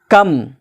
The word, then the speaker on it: comb: कम, COMB, कॉम, जिसको कहते हैं कॉम, कॉम का मतलब कंघा, तो कॉम्ब नहीं पढ़ेंगे, क्या पढ़ेंगे? कॉम।